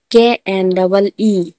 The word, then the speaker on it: knee: जैसे नो, KNOW, नो, नो में भी एन से आगे के है तो के का उच्चारण नहीं करेंगे हम। नी, KNEE, नी, नी ने भी एन से आगे एन से आगे के है तो के का उच्चारण नहीं करेंगे।